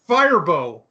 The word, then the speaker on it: Firebaugh: Is it Harbaugh? Firebaugh. Firebaugh. Firebaugh. Firebaugh. Okay. Is that the consensus?